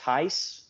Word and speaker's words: Theis: We've got filmmaker and as I've recently learned, podcaster Gabriel, and I'm assuming it's pronounced Theis.